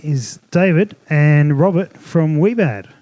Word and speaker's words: Wiebad: David and Robert from we bad if I pronounced that correctly that's great it is correct that is correct well I've had all